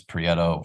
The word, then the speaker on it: Prieto: Prieto. Correct? Is Did I it say it wrong? Prieto? There's there's an official, it's Prieto from the.